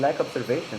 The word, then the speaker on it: Lac Observation: It's actually well it I I do pronounce it like that but it's actually a lake in Quebec so it's French.